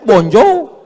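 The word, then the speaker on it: bonjour: Tulisannya bonur bacanya bonjou.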